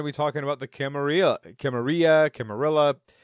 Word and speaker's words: Camarilla: be talking about the Camarilla. It's going to be potato here for this whole this episode. Well, I personally prefer the Spanish pronunciation with the double L equaling the Y sound there.